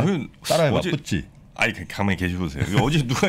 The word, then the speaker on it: FTSE: 아, 푸찌가 그게 공식 저 발음이군요. 네. 아 이게 우리가 그냥 그 증권가에서 금융가에서 푸찌라고 해요. 아 그래요. 네, 그걸 FTSE 하면 약간 좀 뭐라고 하나 좀 아마추어처럼 보이잖아.